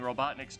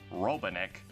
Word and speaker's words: Robotnik: a lot growing up, and I remember her mispronouncing Robotnik's name as Robotnik, and I legit thought that was how Eggman's